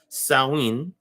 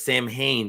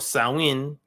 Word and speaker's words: Samhain: a harvest festival called saowin each phone i know some of them says samhain but that's not how you say it in the gaelic language right samhain or sawin uh has some things